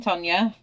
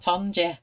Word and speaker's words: Tonya: Oh, what are you eating, Tonya? Can you remember when I first met you all and I used to call you Tonja? Until Shannon said, it's not Tonja, it's Tonya. Tonya, as Shannon pronounces it, but Tonya.